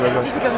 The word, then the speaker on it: Lincoln: Do they say, oh, the Lincoln brand? Yeah. Did I say it right? That's right. Lincoln brand in China.